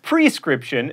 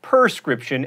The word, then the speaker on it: prescription: friend is paddy mayonnaise it's prescription not perscription and realtor is only